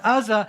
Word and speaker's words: Uzzah: on a hill, and Uzzah, and that is how you pronounce that one, Uzzah, and I'm going to call him Ahio.